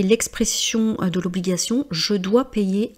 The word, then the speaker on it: payer: Pour la prononciation de payer, à chaque fois que vous avez une voyelle et ensuite la lettre Y, je sais que ce n'est pas évident à prononcer. Imaginez qu'il y a de I, donc pay.